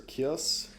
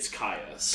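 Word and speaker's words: Kyuss: Is it Caius or Kios? I looked it up. It's Caius.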